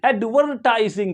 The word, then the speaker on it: advertising: में क्या कर देंगे अमेरिकन इंग्लिश में बस इतना ही सा फर्क है कि ये जो आर है आर इस आर को क्या करेंगे प्रोनाउंस करेंगे एडवर्टाइज एडवरटाइजिंग क्या पढ़ एडवरटाइजिंग और